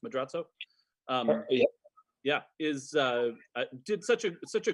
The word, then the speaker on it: Madrazo: Well, and you bring up the cinematography is exceptional in the film, and Gerardo Madrazo, is that how it's pronounced, Madrazo?